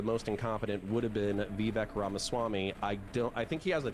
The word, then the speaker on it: Vivek Ramaswamy: I will say though, how can none of you guys pronounce his fucking name, for the love of God? Vivek Ramaswamy.